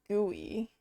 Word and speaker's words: GUI: proper way to say it is gooey.